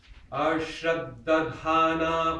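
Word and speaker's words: अश्रद्दधानाः: Ashraddadhana purusha. Ashraddhana purusha. Ashraddadhana purusha. Ashraddhana purusha. It's a double D in the first, second syllable, so you want to spend double time on it.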